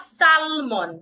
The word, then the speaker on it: salmon: Not salmon. S. The l is silent.